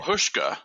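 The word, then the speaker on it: Huschke: I don't even know how to say oh hushka hushka okay most of the people that I've uh heard say the name people who knew him or knew of him say hushka hushka V hin okay love him as a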